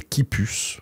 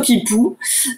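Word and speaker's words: quipu: de ce préentretien de des kipus peut-être que je le prononce mal on dit plutôt kipou mais il y a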